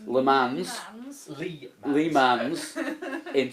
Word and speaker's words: Le Mans: Do I say it like Lee says it, or says it properly? Say it Le properly. Mans. Le Mans.